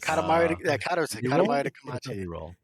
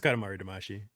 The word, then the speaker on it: Katamari Damacy: Katamari Kamachi. Kamachi. Something like that. Yes. Calamari Karachi. Some fucked up, yeah. Some I can't pronounce that name. Is it We Love Katamari? It's just Katamari Damacy.